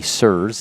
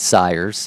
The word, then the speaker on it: sirs: Sir, if we were to pronounce multiple, would be sirs. It's not sires.